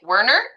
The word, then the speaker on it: Wernert: please correct me if I'm saying your last name wrong, but is it Wernern?